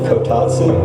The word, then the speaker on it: kotatsu: It's actually kotatsu, but you're pretty close. Choice C, final answer? That's the way we spell it on this side.